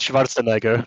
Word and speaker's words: Schwarzenegger: where like they said, but everyone can pronounce Schwarzenegger, and it's like, yeah, that's not how it's pronounced, you fucking dingbat. It's pronounced Schwarzenegger, but you know.